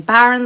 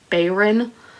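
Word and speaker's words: Bayron: dead by kailyn bayern which i've been pronouncing baron the whole time because i don't know where i saw that or heard that but i had myself convinced her name was baron but it's bayern um so i'm very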